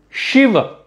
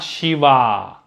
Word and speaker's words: Shiva: shiva it is shiva there is an a sound so we have to it's not shiv it is shiva it is not shiva it is not shiv it is shiva so that a sound is there at the end but it is short shiva ram not shiva not